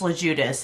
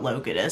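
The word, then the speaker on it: Logiudice: Also, I've been pronouncing Judas's name wrong. It's LeJudas, it's not Logidas.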